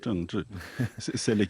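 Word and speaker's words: 政治: prononce Zhengzhi.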